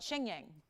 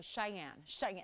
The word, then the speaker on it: Cheyenne: is pretty tricky and i would call it xingyeong that's what i pronounced it and yes it was like you know cheyenne try it exactly so